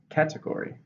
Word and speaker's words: category: Category. 4, stress on the first.